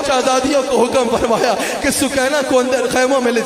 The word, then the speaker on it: سکینہ: سال کی شہزادی حضرت سکینہ سلام علیہا، سکینہ کہا جاتا ہے، اصل میں نام سکینہ ہے، سکینہ اصل تلفظ سکینہ ہے، حضرت سکینہ سلام علیہا